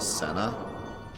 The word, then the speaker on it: Cena: five times five times apparently John Cena's name is pronounced Senna according to who he himself says Cena did they like